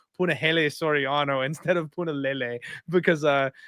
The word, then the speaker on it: Punahele: I always used to pronounce Puna's name Punahele, and he got so mad.